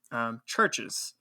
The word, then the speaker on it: CHVRCHES: Churches. And that's spelled, instead of a U, it's CHVRCHES.